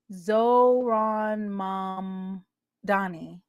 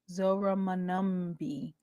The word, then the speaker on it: Zohran Mamdani: Zohran Mamdani. Zora Manumbi. That is not how you say it.